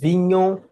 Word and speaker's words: Vignon: My name is Vignon. Vignon is like filet mignon, but when you replace the M with a V, then that's the best way I teach people how to say it.